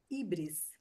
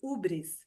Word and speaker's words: híbris: um dos aspectos pedagógicos da mitologia é a híbris, ou ubris, ou híbris, né? Depende muito da forma, né, que o pessoal acha aí da Sim. pronúncia, né? Eu, É. na minha simplicidade, na minha tosquice, vou falar híbris aqui, que é mais fácil, né?